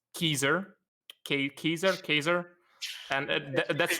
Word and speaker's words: Caesar: I'm not exactly sure how it was pronounced but people say Caesar today but the C in Latin is is pronounced as a K, not a C.